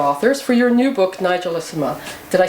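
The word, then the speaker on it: Nigellissima: our all-time favorite authors for your new book Nigel is uma did I say it right perfectly well I'm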